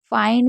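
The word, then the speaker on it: find: फाइंड में भी आई को आई पढ़ा जाता है, क्योंकि अगर कहीं पर भी आई एन डी होगा तो हमेशा आई एन डी को आइन पढ़ा जाता है, तो इसको आप लिख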